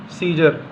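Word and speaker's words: Caesar: यहां पे एग्जांपल है जैसे सीजर यानी रोमन सम्राट। तो यहां पे ए तो आया है लेकिन यहां पे ए साइलेंट है।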